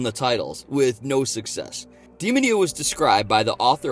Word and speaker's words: Demonia: It's not going to be Demonia, because it's Italian. Demonia.